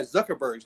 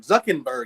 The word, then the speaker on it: Zuckerberg: 9,000 books and and not even pronounce the guy Zuckerberg's name Zuck andberg he calls him every time Zuck andberg I'm like [ __